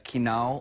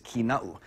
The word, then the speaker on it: Kina'u: A lot of the times the name is mispronounced as Kina'u or Kina'u, but the appropriate pronunciation is Kina'u.